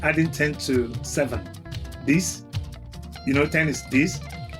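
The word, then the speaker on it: dix: with nine is nerf nerf and 10 is this this this.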